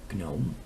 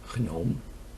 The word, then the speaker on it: gnome: And I will certainly pronounce it the wrong way, gnome, but gnome is how we Dutchies would say it.